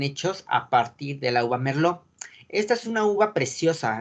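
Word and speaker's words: Merlot: es una palabra francesa en las palabras francesas las las letras de betoño el elefante y ese de sopa el ts si están el al final de una palabra francesa no se pronuncian no se pronuncian salen entonces para que lo tomen en cuenta porque muchas uvas son de origen francés entonces la publicación por supuesto que está en francés sale merlo guau merlo una uva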